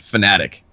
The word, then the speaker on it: Fanatec: Like, he actually pronounces it Fanatic, and it goes from Fanatec to Phonetic to whatever.